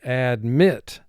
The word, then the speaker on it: admit: And the word is pronounced admit. So you can hear the emphasis goes to the second syllable.